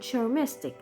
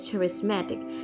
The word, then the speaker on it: charismatic: selfish confident sweet and charmistic oh sorry i pronounced the word wrong it is charismatic charismatic means that the